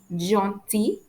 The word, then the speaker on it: gentil: dans outil, which means Final L is usually silent after the letter I, like in jaunty and in uti. Jaunty means nice, uti means tool. So, when I pronounce these two words, jaunty, uti, you can hear that I don't pronounce the letter L.